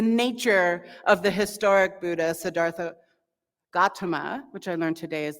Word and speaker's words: Siddhartha Gautama: tonight is the nature of the historic Buddha Siddhartha Gautama which I learned today is the actual pronunciation um of his Awakening and one of